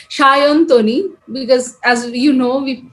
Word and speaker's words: Sayantani: the correct way yeah so in bengali we use this so as a we write s but we pronounce it as an sh that way it's a shintani the typical bengali one is shayan tony because as you know